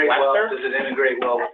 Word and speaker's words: Leicestershire: I'm here and Which they never pronounce. It'll be spelled Leicestershire and they're like Leicester.